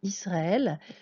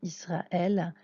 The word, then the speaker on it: ישראל: toujours de la droite c'est un aleph et ne se prononcent pas donc c'est une consonne qui nous soutient simplement la voyelle donc ça peut être à et y au ça peut être beaucoup de choses et on ne l'entend pas la deuxième lettre